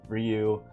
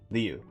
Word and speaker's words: Ryu: So I will always say Ryu, despite Yen Press localizing it as Liu.